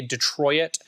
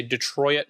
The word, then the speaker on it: Detroit: Don't be like Elliot Friedman and say Detroit. I don't like people that say Detroit because that's how he pronounces it.